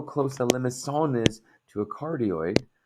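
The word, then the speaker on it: limaçon: And there's my soft C. So notice how close the limacon is to a cardioid, right?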